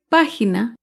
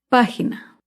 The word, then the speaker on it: página: ejemplo de una palabra esdrújula es página página se acentúa en la antepenúltima sílaba página recuerda todas las palabras